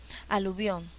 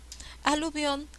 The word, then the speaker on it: aluvión: intensidad siguiente palabra aluvión aluvión se divide en tres golpes de voz o sea en tres sílabas a la vio se divide en tres sílabas estas sílabas tienen distinta entonación pero cuál de estas se lleva la mayor fuerza de voz la la luz obvio probaré con cada una aluvión aluvión no aluvión aluvión yo no